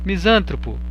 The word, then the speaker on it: misantropo: sim é uma proparoxítona misantropo é misantropo o misantropo é misantropo o correto da pronúncia desta palavra então risca ela tem